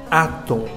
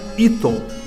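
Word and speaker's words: Atum: Átom. Lembrando que quando o Iod está no início de um nome próprio, a sua pronúncia possui o som de A. Não seria correto pronunciar Iton. Então é átom, o disco solar.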